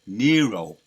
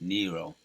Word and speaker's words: Nero: a correction on that it's Nero right that's how you pronounce it Nero he would force people